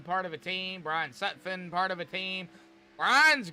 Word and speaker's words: Sutphin: So, but a little bit of a kind of an insight here is Jason Dalton and Tanyan Sutphin. Tanyan Sutphin is Jason Dalton's nephew.